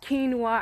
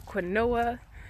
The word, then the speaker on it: quinoa: of different grains like quinoa i used to pronounce the quinoa but it's called quinoa for real and burger weed and